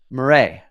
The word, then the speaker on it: Maurais: And I'm hanging out today with Maurais. Did I say it right? That's right. Yes.